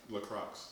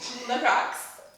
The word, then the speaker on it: LaCroix: Properly pronounced LaCroix. LaCroix, what he said, and mango juice.